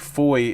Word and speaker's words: Fowey: None of like Foy is spelled Fowey, and Cove is spelled Cobh, which is Gaelic.